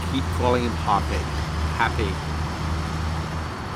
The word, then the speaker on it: Hape: calling him pop it happy there is no R so it's not Harpe I do think that